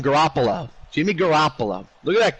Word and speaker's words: Garoppolo: Garoppolo.